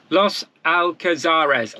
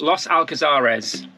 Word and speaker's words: Los Alcázares: Los Alcázares. Los Alcázares.